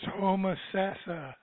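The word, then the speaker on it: Homosassa: putcher that one 352 come on down it's hom sassa oh okay I can't get my time wrapped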